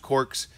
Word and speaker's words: Cor.kz: a great app so the idea of Corks And it's spelled a little weird C r. KZ it looks like it's